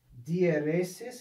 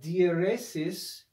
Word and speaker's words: dieresis: they need to be read as two separate syllables okay so diphthongs and dieresis and let me just write this word the